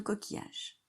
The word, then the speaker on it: coquillage: Et après, il y a je, et il y a un E muet à la fin de coquillage.